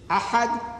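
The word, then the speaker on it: أحد: And the difference between these two words is only the pronunciation. I would write Ahad, Alif, Ha, Da, Ahad in Arabic, meaning one and only. And to make it Ihad, on the Ha I put a dot, that becomes Ha.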